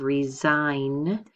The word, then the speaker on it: resign: way out here so here is the one with the silent consonant we have resign okay silent G again but you do hear it in the word resignation here's one right really